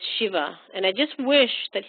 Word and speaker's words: Shiva: I had a friend in college who wrote his name out as Siva, and people pronounced it as Siva, and it's Shiva.